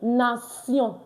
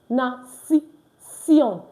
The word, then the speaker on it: nation: I said the TI is pronounced C. In nation. In nation. Nation. I know English will tell you nation, shon, but French says C. So in nation.